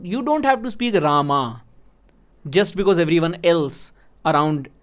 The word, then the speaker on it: Rama: not singing right because it's not Ram, it's Rama, because they are practiced in a certain way.